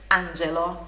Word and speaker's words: angelo: Se il contrario di un angelo, som do GE é sempre explosivo. GE, angelo.